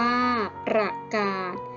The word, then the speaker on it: ประกาศ: กด ค่ะ ประกาศ อ่าน ว่า ประกาศ คำ ว่า กาด ใช้ สอ สา ลา เป็น ตัว สะกด อ่าน ออก เสียง เหมือน เด็ก สะ กด ค่ะ ขอ โทษ